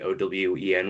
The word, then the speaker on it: Eoin: But just by way of introduction, my name is Eoin, pronounced the Irish way, but or spelt the Irish way, pronounced the Owen way.